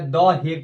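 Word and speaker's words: The Hague: ऐसे होता है हेग, HUGE स्पेलिंग है कर, ठीक, HUGE। तो हग हेग कर देता है, लेकिन इसका अंग्रेजी नाम है तो पहले द लगता है, ये लेकर आप द हेग पढ़ा जाता है।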